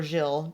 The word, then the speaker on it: Gil: So Marlin mans the counter, and then Gil or Gilles, depending on your pronunciation, is the guy who says like, "Come back when you got something to show me."